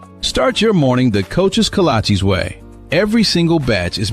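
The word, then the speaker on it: kolache: No, that can't be right. It's kalachi, but it don't matter what you call it as long as you call it good. Start your morning the coach's kalachi's way.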